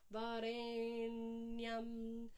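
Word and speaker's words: वरेण्यम्: So we have Savitur, Varenyam. Dot underneath the N means a retroflex position, so the tongue has to be up, pointing towards the roof of the mouth.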